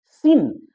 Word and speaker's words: scene: सिन, अब सिन पर गौर करते हैं तो सिन में SCENE मतलब दृश्य होगा। अब तो हम सी पढ़ेंगे नहीं, क्योंकि सिन SCNE से ही काम चल जाएगा, सी साइलेंट होगा, लेकिन लिखने में तो SC चाहिए।